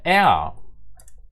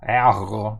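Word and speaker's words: er: Є багато варіантів, але якщо він іде в кінці слова, як у нас, то він перетворюється в а.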